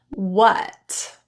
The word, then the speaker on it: what: Just vocalize the sound Here are a few rare words in English that are spelled with an A, but are pronounced as What?